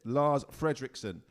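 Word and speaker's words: Lars Frederiksen: the punk rock series lar Frederickson am I pronouncing that right that's it lar Frederickson it's going to be winner stays on Mohawk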